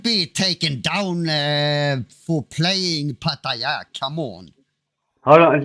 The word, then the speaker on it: Pattaya: Pattaya. Pattaya. There you go. That's how you say it. Pattaya.